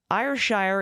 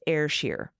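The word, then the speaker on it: Ayrshire: on the cow breed IR Shire is a Scottish breed and a country of Robert Burns the Scottish poet it's pronounced air Shear rolling the RS is also encouraged oh yeah it's not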